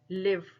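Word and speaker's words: live: कि spelling same है अब बोलने का तरीका देखिए कहते है ना लाइव मैच चल रहा है और एक होता है लिव रहना तो देखिए स्पेलिंग बिल्कुल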